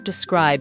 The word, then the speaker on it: describe: say describe someone or describe something can you describe your attacker he described the painting in detail note that we stress the word on the second syllable describe describe them describe them describe